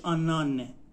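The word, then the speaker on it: anneanne: آنه آنه آ نه یعنی تلفظش آن انه د تا آنه رو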